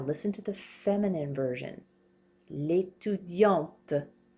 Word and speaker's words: l'étudiante: L'étudiante. We pronounce this T now. Did you hear how I was not pronouncing it here? L'étudiant. L'étudiante.